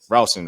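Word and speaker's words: Rowson: the season um this is about James rouson rouson right I have I'm pronouncing it correctly right yep okay uh James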